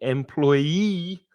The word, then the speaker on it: employee: And employee, or let's go this way, employee has the stress on the final syllable, the 3rd syllable.